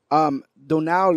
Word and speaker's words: Donal: I will say I pronounced that terribly, but he's missing a D. It would just be Donald if he would just have the other D at the end of the name. It's Donal. Oh yeah, Donald.